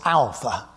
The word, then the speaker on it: alpha: an English a and it is pronounced like the Greek letter like the uh word a and father yeah I'm going to get on to this in a minute like the a in Father the second letter second